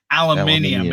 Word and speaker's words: aluminium: It's not aluminium. It's aluminum. No, it's not. Look, see? Dude, pronounce how it is. No, pronounce how it is spelled. Aluminum. No, that's America.